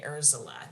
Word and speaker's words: Urzila: Yeah, and her name is spelled Urzila, Urzila, not Ursula.